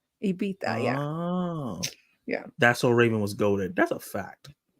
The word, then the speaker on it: Ibiza: They pronounce the Z like a TH, more of a TH sound. Oh, it's Ibiza? Ibiza, yeah.